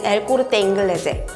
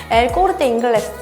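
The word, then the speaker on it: El Corte Inglés: 예를 들어 제가 뭐 피렌체에 더모를 갔다거나 또는 스페인 바르셀로나에 있는 엘 꼬르테 잉글레제, 이건 이탈리아 발음입니다. 엘 꼬르테 잉글레스 백화점을 갔다거나 이럴 때 거기서 물건을 구입하면서 저 텍스 리펀드 받을 거예요 라고 꼭 직원에게 말씀을 해주셔야 해요.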